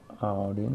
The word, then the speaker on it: audience: We have an audience. Audience. Когда audience. Ты видишь две буквы A и U вместе, они читаются как O.